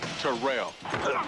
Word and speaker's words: Terrell: And it's pronounced Terrell. Terrell Davis joins an all-pro lineup on NFL Total Access.